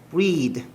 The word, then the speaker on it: breath: 그녀는 breathe. 이까지 발음이 breathe야. breathe. 숨쉬다, 호흡하다. 명사형은 뭐였어? breath. 발음이 달라지지? breath, breathe.